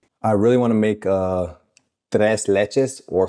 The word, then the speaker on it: tres leches: We use the Spanish name and we call it tres leches cake, or tres leches cake, depending on your pronunciation.